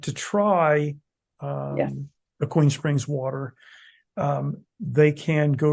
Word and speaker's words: Aquene: It's not Aquene. It's actually pronounced Aquene.